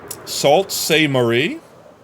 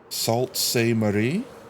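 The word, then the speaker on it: Sault Ste. Marie: Salt Semarie. Did I say that right? Salt seam marie that close. Yeah. Yeah. E A U is O in fraction.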